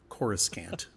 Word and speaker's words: Coruscant: Coruscant.